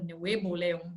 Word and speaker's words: Nuevo León: E nesse outro estado aí, também próximo aos Estados Unidos, faz fronteira também, chamado Nuevo León, ou Nuevo León, né? Que pronuncia em espanhol.